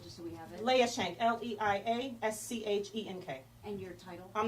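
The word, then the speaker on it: Leia Schenk: and spell it just so we have it? Leah Shank, L-E-I-A-S-C-H-E-N-K.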